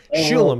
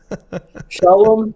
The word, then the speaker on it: Sholom: Like Sholom, it's not that hard. Most people say it wrong anyway. Shalom is good. A lot of people go with that. Shalom also works.